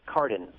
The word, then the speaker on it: Cardin: It is Cardin.